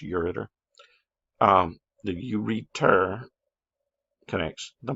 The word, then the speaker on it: ureter: you'll spell it right you return it's actually pronounced ureter um the urether connects the bladder to the